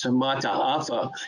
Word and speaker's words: Mataafa: an odd name matapa it should probably be pronounced as samata afa using all of the letters in their pronouncing all of the vowels mata afa himself was